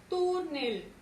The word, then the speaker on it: túnel: Y por último tenemos la palabra túnel. Lleva su mayor fuerza de voz en la penúltima sílaba y termina en consonante L. Por tanto, túnel irá acentuado.